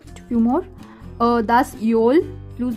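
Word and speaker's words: Öl: योल, Yol lamp, pronunciation Yol होता है।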